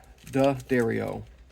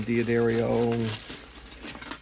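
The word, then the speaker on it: D'Addario: going to put some Dario Daario that's how you say it for all you guys saying Diario it's the dairy o let's put this ugly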